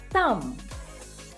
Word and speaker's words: thumb: let's see another one Thum Thum Thum make sure you don't pronounce b because it's silent it's sleeping sound in this word all right so it's thumb so the the sound